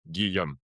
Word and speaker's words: Guillaume: But it's like a G like guitar and yum like yummy. Guillaume.